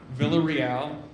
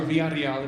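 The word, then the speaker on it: Villarreal: Uh, my name is Villa Royale or Varal if you know how to roll your Rs.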